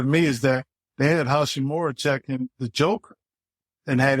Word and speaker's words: Hachimura: Hachimura. You got it. Yeah, got his pronunciation okay.